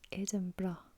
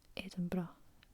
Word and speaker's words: Edinburgh: i'm done okay little lesson on the correct pronunciation of edinburgh so it's edinburgh edinburgh not edinburgh or edinburgh edinburgh this is one